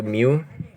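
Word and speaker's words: μ: umumnya kayak gini itu namanya Miu dibacanya itu Mio Terus kalau standar rata-rata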